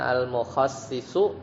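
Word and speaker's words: المخصِّص: Kalau mukhassis bi kasris shad ya, dengan mengkasrahkan huruf shadnya, jadi bacanya al mukhassisu, shadnya itu dikasrahkan, artinya fa'ilut taksis, orang yang melakukan taksis, berarti pelakunya.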